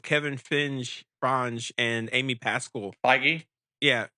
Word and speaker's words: Feige: Feige? Yeah, Feige. Is that how you pronounce it?